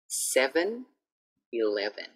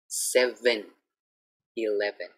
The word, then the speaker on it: 7-Eleven: 7-Eleven. 7-Eleven. So I don't want to hear like, oh, I go to 7. No. I'm going to 7-Eleven. Okay, so practice the sound.